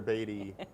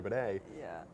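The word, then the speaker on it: Badie: That's the biggest thing we'll talk about is how to pronounce formerly Tyler Beatty, now Tyler Baday's last name. Twitter's like on fire over this. They're telling all these journalists who are like, it's Tyler Baday.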